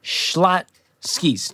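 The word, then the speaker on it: Schlotzsky's: home skip the schlotskys Rachel shotskis Rachel makes into nine syllables I think when she says it we got my favorite shotskis schlot skis two syllables Rachel number four evaluate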